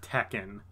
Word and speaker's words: Tekken: like yeah I totally know games I play Tekken to Ken and Mortal Kombat wow you just took your